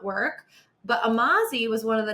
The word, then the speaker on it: Amazi: So like people be like, "Oh, Amazi, like amazing," and I'm like, "Yep, sure."